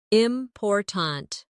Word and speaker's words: important: For example, in the word important, we stress the second syllable, important.